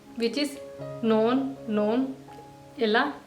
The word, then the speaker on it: nogle: और जो दूसरे सेंटेंस में एन ओ जी एल इ है इसमें भी जी का साउंड नहीं आएगा एल का भी नहीं आएगा सेम प्रोनंसिएशन इवन दो इसमें एल है जी है पर ये साइलेंट है इसको भी आपको पहले वाले ही की तरह नोन नोन कह रहा है रिटन में नोन और